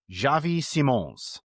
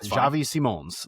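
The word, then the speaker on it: Xavi Simons: It's he pronounced it Javi Simones almost a little bit like French-like even though he's Dutch which we get the crossover there like there there's a little bit of crossover but Javi Simones like that's that's so I get it.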